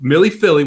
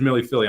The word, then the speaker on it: Millie Philly: to win and so millie philly which is the connect correct pronunciation for everybody out there even the people who named the horse correct correct pronunciation here is millie philly i'm sticking with it